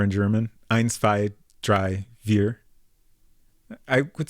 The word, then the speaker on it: vier: Spelled with a V, but more of an F sound.